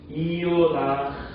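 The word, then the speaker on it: יונה: 합치면은 그래서 이음과 오 이렇게 두 개가 합쳐지다 보니까 이요 해서 이게 요가 되는 거예요.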